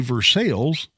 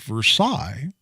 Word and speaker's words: Versailles: if you're if you're listening to me say for sales and you're familiar with geography much you may be rolling your eyes going well no you idiot it's pronounced Versailles and in fact literally right at 40 years